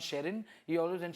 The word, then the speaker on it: Sherrin: So Shari ka beta Sherry became, and Shekhar Bhai could never pronounce Sherrin. He always went Shirin, Sharon, Sharon.